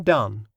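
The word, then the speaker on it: Donne: has some additional interest as suggesting the correct pronunciation of his name John done andone undone end of Section Five Section six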